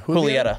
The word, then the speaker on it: Julieta: Wait, so you pronounce it Romeo and Julieta?